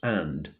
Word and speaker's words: Indre: An email popped into my inbox from the director of a singing group in the nearby village of Indre, pronounced And, on the banks of the Loire, a few clicks west of Nantes.